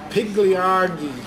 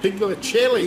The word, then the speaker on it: Pigliacelli: Pigliargi. Yes. Is that Pigliacelli. Pigliacelli. You're as bad as Darcy, mate. You can't pronounce these names, can you?